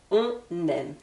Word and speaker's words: on aime: forme affirmative on écrivait on aime d'accord on aime ici je fais la liaison entre le N du on et le verbe aimer avec le E on aime pour la forme négative